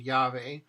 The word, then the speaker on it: llave: And with double L, llave, llave. Lleno, lleno. No double L beginning a word. Llorar, llorar. Lluvia, lluvia. You can hear the difference between, let's compare Yankee and llave.